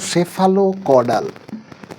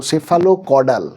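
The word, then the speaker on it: cephalocaudal: তিনটা বারবার পরীক্ষায় এসছে চল দেখব সেটা হলো সেফালো কডাল সি পিএইচ এলও সেফালো কডাল উচ্চারণটা কিন্তু সেফালো কথার অর্থ হলো হেড অর্থাৎ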